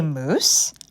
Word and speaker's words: mousse: a moose and a moose mo OSE and Mo you sse both words are pronounced the same way but boy do they